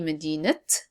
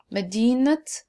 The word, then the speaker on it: مدينة: And the moment I pronounce the ta marbuta, you could see مدينة, جامعة.